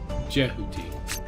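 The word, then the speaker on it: Djehuti: Next we're going to check out the new Dark Lord card, Jehuti. The D is silent.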